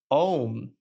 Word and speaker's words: Om: There's no ooh. There's no O in that letter. Om. AUM. Om. You open your mouth, and then close it. And that is the divine name. That's how you say it. There's no make sure you're not puckering your lips when you're saying it.